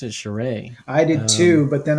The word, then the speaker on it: Charest: Although I think your influence for these is Travis Charest, and I think he can pull that off with like calculated detail in certain areas, and then everywhere else kind of smooth.